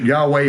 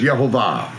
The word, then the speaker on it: Yehovah: great things even though i pronounced it yahweh a million and six times yet the research and what's come out with the ancient hebrew texts have been discovered with the scribes accidentally put in the third vowel pointing now we now we know according to the scholars of hebrew university that the name should be pronounced yotevade with the three vowels as